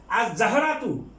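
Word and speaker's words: الزهرة: আর জাহরাতু হলো ফুল, এটা হরফে শামসিয়া, কাজেই লামের উচ্চারণ হবে না। আর জাহারাতু।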